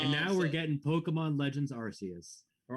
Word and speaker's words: Arceus: And now we're getting Pokemon Legends Arceus or Arceus. I'm sorry. Not allowed to say the Arse. That's the reason they've changed the pronunciation of that Pokemon. It used to be Arceus. Stand by what you said.